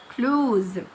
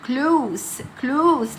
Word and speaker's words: close: هنا close جايه as a verb فهتتنطق with z sound يبقى close. لكن في الاكزامبل التاني بيقول لي we live very close. نحن نعيش بالقرب من بعض. يبقى هنا كلمة close جاب معنى بالقرب أو قريب، يبقى هنا تتنطق with a sound close لأن هي جاية noun.